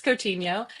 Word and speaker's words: Coutinho: You can find me online everywhere at Infinity cuz my obviously because my last name is uh hard to pronounce. It's Cotinho.